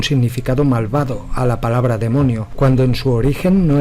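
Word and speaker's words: δαίμων: Se le ha llamado demonio a toda entidad interdimensional, pero ¿qué es realmente? ¿Y qué significa la palabra demonio? En religión, ocultismo, folclore, un demonio, del griego daimon, que se pronuncia demon, es un ser sobrenatural,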